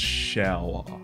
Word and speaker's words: Shearer: Also, the last name is pronounced Shower.